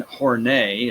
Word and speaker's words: Horney: were next is Karen Horne a is how that's pronounced believe it or not I'm not just inflecting it that way that's actually how it's pronounced Karen horney and the need for